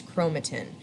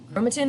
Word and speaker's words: chromatin: the first one is chromatin chromatin is long and thin right tin rhymes with thin so that's a good